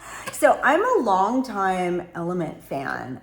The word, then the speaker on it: LMNT: So, I'm a long time Element fan. I think it's pronounced Element. It's L M N T.